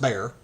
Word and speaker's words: Bexar: to look it up it's uh spelled Bexar but it's it's pronounced bear was an ultimately successful